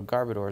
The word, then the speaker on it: Garbodor: know what I mean I also really like the pronunciation of garbodor Asgar boater and I think that's how it should be pronounced but I've called it